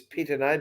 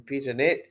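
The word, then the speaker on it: Pittonet: the proper pronunciation is Pitane, but people call him Pitanet. Is that right? Let's just call him Pito. Okay. So right. What do you think? It's like Pitane, Chardonnay. It sounds more French.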